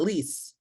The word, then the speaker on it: Lisa: all right what about lease Lisa please forgive me if I'm mispronouncing it please correct me yeah um so it's like please please um I'm logging